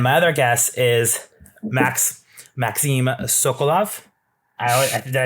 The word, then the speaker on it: Sokolov: And my other guest is Maxime Sokolov.